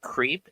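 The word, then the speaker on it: Creap: Um, in in in Japan, the the powdered milk for your coffee, it's called creep. It's spelled C R E A P.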